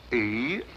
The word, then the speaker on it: Eros: A slight confusion on the lady's part. Probably the influence of Cockney stagehands. She added an H where there shouldn't have been one. What? Then spell it as she spelled it, but without the H.